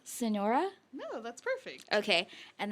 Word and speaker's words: Sonora: You're from, I'm going to say it wrong, Sonora?